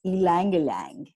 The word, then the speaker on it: ylang ylang: time so the flower I'm talking about is ylang ylang so that's the correct way to say it